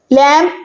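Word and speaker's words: lamb: Number 4, लैम्प। लैम्प का मतलब होता है दुम्बा। लैम्प में बी साइलेंट है।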